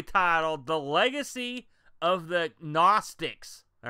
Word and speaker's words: Gnostics: the legacy of the gnostics all right or godostics the g is silent the world the Gnostic